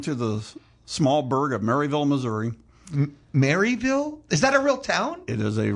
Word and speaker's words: Maryville: And graduated from Northwest Missouri State University, and Maryville is spelled like it should, Maryville. So Mary, as in the female name, yes. Not Mary as in Christmas.